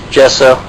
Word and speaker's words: gesso: Is it gesso or gesso? If they put a G in the front of it, it's gesso.